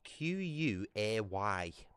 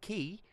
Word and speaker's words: quay: Any any normal person in their right mind would pronounce that as quay, you know what I mean? When you get a q and a u, you pronounce it q. Or or or or or quay, you know, something like that. It's not key. Key is key.